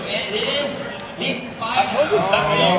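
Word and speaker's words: Fidough: It is the That's the Fido. correct pronunciation.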